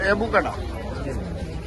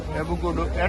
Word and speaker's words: এভোকাডো: না আর এইটা তো এভোকাডা এভোকাডো এভোকাডা না কি বলে উচ্চারণ এভোকাডো এভোকাডো আম রে